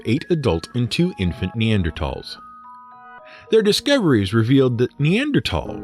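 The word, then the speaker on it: Neanderthal: in t h l is pronounced as a hard t for a long time anthropologists assumed that the neander tals resembled Apes walking with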